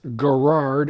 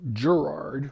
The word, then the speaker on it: Garrard: received the Gerard table and I guess it's pronounced Gerard as opposed to Gerard which I mispronounced for many years it wasn't